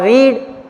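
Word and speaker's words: read: और रीड, इसकी तीनों फॉर्म समान होती है। केवल एक बात याद रखनी है डियर स्टूडेंट्स कि सेकंड फॉर्म और थर्ड फॉर्म में रीड का प्रोनाउंसिएशन बदल जाता है रेड।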